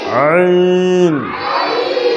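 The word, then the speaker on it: ع: তারপরে আবার বলো, আবার বলো আইন, কণ্ঠনালী প্রথমা থেকে আইন।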